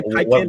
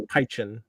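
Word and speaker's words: Pynchon: I say Piken, but his name's Pychen.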